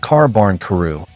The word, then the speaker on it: Kābankuru: First of all, Culumon's name comes from kuru, the suffix of carbarn kuru, the Japanese pronunciation of carbuncle, an elusive mythical critter